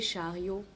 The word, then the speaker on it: Chariow: Donc chariot s'écrit C H A R I O W.